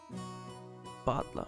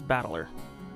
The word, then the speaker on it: Battler: Butler. I think my pronunciation is correct. I don't think it's battler. That doesn't sound right. Battler. It's like butler.